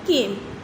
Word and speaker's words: calm: SUNNY sunny, number 2 cloudy, CLOUDY cloudy, number 3 calm, CAM calm। L silent होता है इसलिए CALM है, L silent होता है इसलिए हम इसे calm पढ़ते हैं।